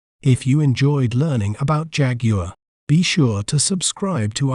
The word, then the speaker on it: Jaguar: better understand its pronunciation we may pronounce it as Jaguar Jaguar Jag you are Jaguar an interesting fact about